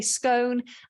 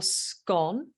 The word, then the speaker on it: scone: So the majority of people do say scone, and that's considered the most correct way to say it. But some people do say scone, and that's okay too. Now, with your scone, you will have jam and cream.